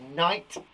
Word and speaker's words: knight: right it's so annoying the other one that has it is knight as in knights of the round table has a silent k at the front knowledge again has a